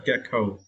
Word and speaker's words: gecko: Yeah, gecko. And for this word, you need to stress the first syllable, get, right?